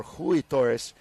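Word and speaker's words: Rui Torres: and ruie Torres or Hy Torres right don't you pronounce the RS a little different with the H yes yeah yeah h Hy taus and there you see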